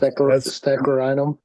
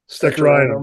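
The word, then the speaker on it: Steccherinum: Oh, Steccarinum. Steccarinum.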